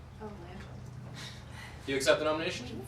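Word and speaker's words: Langille: Langell. Oh, Langell.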